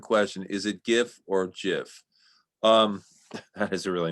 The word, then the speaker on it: GIF: say gif or gif i say gif because jif reminds me of jiffy peanut butter i like to i don't like to think of it like that so i just say